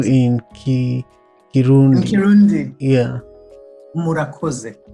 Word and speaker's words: Murakoze: Murakoze. Murakoze.